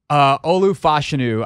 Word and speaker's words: Olu Fashanu: Olu Fashanu, I believe, is the pronunciation there, although I keep hearing different people that are genuinely experts say it totally differently.